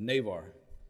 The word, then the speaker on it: Navar: I apologize your honor it's a Navar Navar that's how we pronounce it what nationality is that